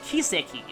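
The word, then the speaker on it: 奇跡: So in Japanese, the word miracle is kiseki, which is pronounced exactly the same as the word for trail.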